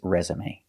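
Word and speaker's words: résumé: or no accent marks the pronunciation is always resume let's practice did he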